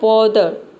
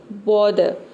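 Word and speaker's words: bother: इसका मतलब क्या है तो इसका मतलब है कि आपको र को क्या करना है ये ऑप्शनल है मतलब कि आपको आधा र को साइलेंट रख सकते हैं या फिर आधा र हल्का साउंड दे सकते हैं ठीक है दोनों तरीके से आपका प्रोनंसिएशन करेक्ट होगा तो इसको क्या बोलना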